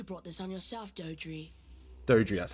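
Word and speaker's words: Doedre: Dodri, that's how you pronounce its name.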